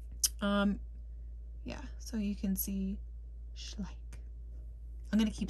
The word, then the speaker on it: Schleich: So you can see Schleich.